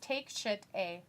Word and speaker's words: Takeshita: It's take shit a. Literally, that's how you spell it. Right, but that's not how you pronounce it. It's pronounced Takeshita, which I got completely wrong.